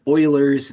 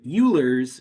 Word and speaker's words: Euler: briefly just mention here notice that the way this is spelled it looks like it should be called ul's method uh but this is a mathematician uh whose name was pronounced Ed as Oiler and it's an easy